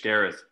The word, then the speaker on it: Gareth: Is it Garrett or Gareth? With a TH, Gareth.